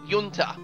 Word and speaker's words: Junta: It's spelled like Junta. It's called Junta. The J is silent.